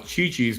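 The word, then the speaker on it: CiCi's: for a little less c i in Italian is pronounced Chi ch ah so Cece's Pizza you would pronounce Chichi's Pizza right and chichis are you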